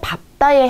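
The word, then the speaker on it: 밟다: 원래 리을, 비읍은요. 리을이 보통 남는 게 대표음으로 남는 게 맞지만 예외적인 경우가 있습니다. 그게 바로 밥다에 해당이 되는데요. 자, 이거는 외워주셔야 돼요.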